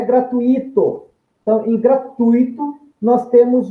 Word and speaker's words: gratuito: Então, em gratuito, o U prevalece sobre o som do I, que é semivogal.